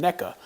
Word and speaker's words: NECA: a really cool name i have apparently been pronouncing that wrong for a very long time i used to call them nika but i watched a few other videos everybody else on youtube calls them neca so i'm assuming somebody